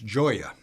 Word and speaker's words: Gioia: Actually, my name is easy to pronounce, if you're Italian, I suppose. It's Gioia, and you can remember it because it's a straightforward translation from the Italian for joy.